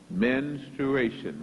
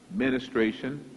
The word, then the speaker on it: menstruation: it is based on menstruation menstruation many times it is pronounced ministration that is not correct but one thing is it starts with men menstruation menstruating women in